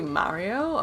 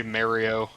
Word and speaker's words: Mario: There is unironically a bunch of weirdos on the East Coast that for some reason say Mario. I think it sounds too weird. I think Mario does sound better.